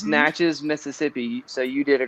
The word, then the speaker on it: Natchez: and by the way you killed it it's natchez mississippi so you did a great job on the pronunciation yeah good job teddy there you go